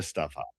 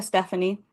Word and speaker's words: Stephanie: helpless body of a stuff up. I'm sorry. You're no longer with us. Would you like to tell us what your role is? First of all, it's pronounced Stephanie.